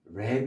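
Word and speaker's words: wrap: 그다음에 WR로 된 랩이 있습니다. 자이 W 바로 번하지 마시고 랩 포장하다. 잘 알고 계시죠?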